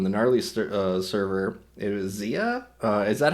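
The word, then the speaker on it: Xia: It was Zia. Is that how you pronounce it?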